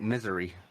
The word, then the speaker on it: Missouri: tell you one thing missouri ends with a i not an a so i mean i i you know living in the state myself i call it misery yeah that's that it